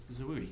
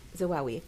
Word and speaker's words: Zawawi: Zawoui. I did not say her name correct. Zawawi.